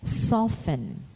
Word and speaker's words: soften: In word spelling, the alphabet letter T is silent when preceded by a letter S in the terminations TEN and TLE, as in moisten, listen, christen, bristle, or whistle. It is silent also in often and soften.